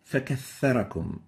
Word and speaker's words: فكثركم: The first mistake is to pronounce it as a sin. You exchange the tha with a sin, And instead of saying فَكَثَّرَكُمْ, you might be saying فَكَثَّرَكُمْ, فَكَثَّرَكُمْ, sin instead of the tha.